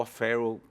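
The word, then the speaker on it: O'Farrill: O'Farrell, a pronúncia. Em inglês se fala assim, né?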